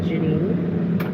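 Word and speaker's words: Jannine: My nickname is Janine, because my name is Janine. And it's spelled j a n n i n e. So, it's Jan nine.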